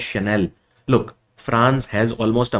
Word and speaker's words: Chanel: It is pronounced as Chanel.